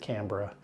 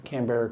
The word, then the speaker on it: Canberra: That's how we pronounced it. I didn't know that Australians pronounced it Canberra. I didn't travel back then. The Canberra Koalas.